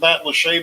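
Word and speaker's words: Matlacha: pine island uh went uh past um uh matt lachey which is interesting because it's it's pronounced matt lachey but it's not actually spelled that way so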